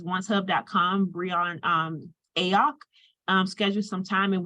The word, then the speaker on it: Briyon: I hope I did say it right because my name has been said wrong my whole life, but it is Briyon.